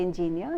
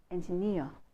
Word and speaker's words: engineer: Now that's one of the most commonly mispronounced, misstressed words, because the stress is on second syllable, engineer, engineer. You don't say engineer, you say engineer, all right?